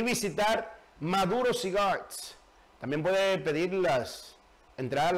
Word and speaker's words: Maduro Cigars: Después de trabajo, usted va a donde Maduro Cigar, se fuma un cigarro y se olvida del mundo. Míralo ahí. Maduro Cigar es Maduro Cigars. Así es que se pronuncia.